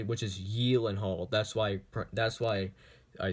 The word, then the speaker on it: Gyllenhaal: on the Conan O'Brien show he actually pronounced pronounce it correctly which is yiling hold that's why that's why I say that correctly